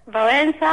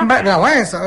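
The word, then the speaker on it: Wałęsa: invece nel campo della politica lec lec lec valensa valensa e un polacco famoso nel campo della religione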